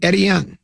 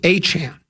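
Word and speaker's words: Etienne: on the radio and he was calling him Eddie. Eddian, the the kid for um he's a running back, but that's not how you say his name. It's Achan.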